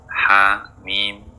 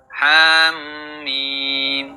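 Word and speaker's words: حم: Jadi saat membacanya, jangan tekan ha dan mim atau jangan masukkan, cukup jangan masukkan mim. Contoh yang salah, Ham. Ham mim. Nah, jangan membuatnya menjadi tasdid .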